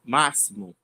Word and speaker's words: máximo: A palavra max máximo a gente fala com um som de s, não de x, né?